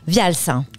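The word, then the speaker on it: Wials: la marque de vêtements Vials. C'est ça, ouais. Alors, comment ça s'écrit déjà ? Alors ça s'écrit W-I-A-L-S. Vials.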